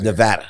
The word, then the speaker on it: Nevada: It is Nevada. Nevada. Which is funny because, you know, when I'm from Florida, depending on which section of Florida you're in, it's pronounced a very different way.